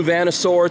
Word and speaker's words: VanNoisSeur: New VanNoisSeur T-shirt, that's how you pronounce that.